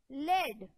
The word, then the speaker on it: lead: For example, think about the वे लेड, which can be pronounced as लेड और लीड.